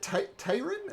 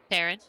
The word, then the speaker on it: Taryn: Um, is it Tyron? Is that how you pronounce the name? Taryn. Taryn. Okay.